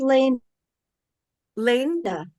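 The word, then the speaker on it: Lania: your name right um it's pronounced Lane Lan my mother's made name was Lane and she added an uh oh okay um thank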